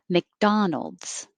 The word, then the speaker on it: McDonald's: the oprah winfrey show mcdonald's i don't have to say i can just hold my tongue in the k position mcdonald's mcdonald's uh buzz i